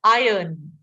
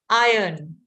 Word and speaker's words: iron: The R shouldn't be there. Iron, right? Iron.